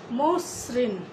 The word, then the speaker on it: মসৃণ: আদ্য অয়ের পরে যদি রিকার থাকে, আদ্য অয়ের পরে রিকার থাকলে সেই অয়ের উচ্চারণ ওয়ের মতো হয়, সেটা সংবৃত হয়। সংবৃত অর্থাৎ ওয়ের মতো। যেমন মসৃণ, বক্তৃতা।